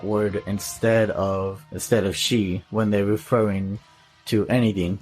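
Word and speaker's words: 四: on this so and in japanese number four is pronounced she as in and for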